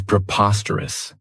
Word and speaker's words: preposterous: The next word, and it's one that I really like, is preposterous. This adjective has 4 syllables, and the stress is on that second syllable. Preposterous. Remember that OS has that schwa, that sound.